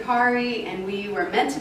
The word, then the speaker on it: Kari: So it's Kara and Kari, and we were meant to be together.